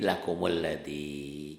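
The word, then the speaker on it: لَكُمُ الَّذِي: Lakum alladzi jadi lakumul ladzi gitu ya.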